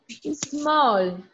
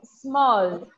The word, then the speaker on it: small: No se pronuncia con la E de enano, no se pronuncia E, sino el sonido de la avispa, ¿ya? Small.